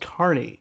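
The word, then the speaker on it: Kearny: It was a glass bottle at the apparently it's pronounced Kearney, New Jersey, supercharger. And I think if they want you to pronounce it that way, they should spell it that way.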